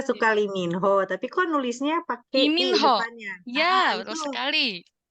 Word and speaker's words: Park: si Latinnya tuh gitu makanya Pak dibacanya eh tulisannya Park tapi dibacanya Pak gitu r-nya enggak kebaca terus apaagi ya tadi